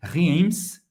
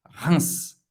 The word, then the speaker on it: Reims: Não é Reims, é Reims. Reims, como se fosse R-I-N. E um S no final. Reims.